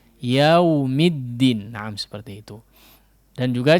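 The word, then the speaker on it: يَوْمِ الدِّينِ: Huruf lin ini juga, ya, huruf lin ini juga tidak betul-betul wawnya itu dihidupkan, ya, tapi yau, tidak yau, tidak, ya, yau sampai seolah hidup dia. Tapi namanya juga lin, ya, diucapkannya dengan lembut atau ringan, mudah. Yaumid, yaumi, yau, yaumiddin.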